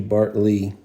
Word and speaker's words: Bartley: is that um oh they spelled his name wrong bartl it should be Bart Lee um yeah he spelled